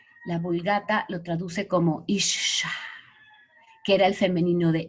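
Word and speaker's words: אִשָּׁה: La Vulgata lo traduce como Isha, que era el femenino de Ish. Fíjense qué bonito, ¿eh? La pronunciación original era Isha y el femenino era, Isha era el femenino y Ish era el masculino.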